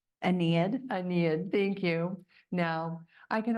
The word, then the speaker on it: Aeneid: When I looked up I knew I was going to mess this word up, and I even did it phonetically. Aeneid, thank you.